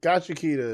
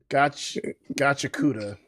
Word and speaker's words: Gachiakuta: But yeah, bro, this is Gachiakuta is like. I'm sorry, I said it wrong. Gachiakuta.